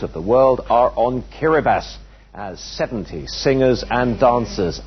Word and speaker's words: Kiribati: closer look at it incidentally it's written kirati as you can see but it's spelled kiribas it's made up of